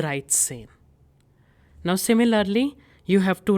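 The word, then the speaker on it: dreizehn: Hence 13 becomes the right sane.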